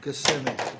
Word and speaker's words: Kissimmee: Kissimmee. A lot of people pronounce it that way, though, Kissimmee.